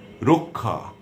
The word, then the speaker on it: রক্ষা: এবারে আসুন শেষে বা মধ্যে যদি বসে, শেষে বসলে যেমন বক্ষ, কক্ষ, ক খ এর মতো উচ্চারণ হচ্ছে ক্ষীয়টা। দক্ষ, রক্ষা। আবার মধ্যে বসলে অক্ষত, অক্ষত।